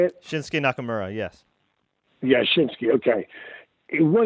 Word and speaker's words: Shinsuke Nakamura: Shinsuke Nakamura, yes.